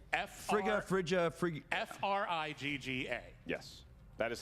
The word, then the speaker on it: Frigga: It is, in fact, Frigga. God. Kallinowski. That is incorrect. That is incorrect. We cannot accept. It's an extra syllable in there.